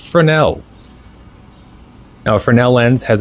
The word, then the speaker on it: Fresnel: I totally botched that pronunciation in the short I made about it, but it's pronounced Fresnel.